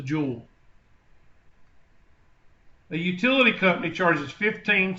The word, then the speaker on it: Joule: six million joules then Joule is a scientific term pronounced just like the just like the rocks that come out of the earth that are expensive it's a jewel the utility company charges